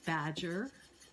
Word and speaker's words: badger: Same thing with the word badger. That's a trochee. We put the stress on the beginning, on the first syllable.